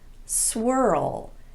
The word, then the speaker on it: swirl: Some other examples would be pearl, whirl, hurl, swirl, and twirl. Every one of these is technically a single syllable word, but they're pronounced as if they have two syllables.